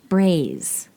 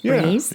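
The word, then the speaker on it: braies: In the middle, In the Middle Ages, men wore loose trouser-l like undergarments called braise. I think that's how you say it. B R A I E S. Base.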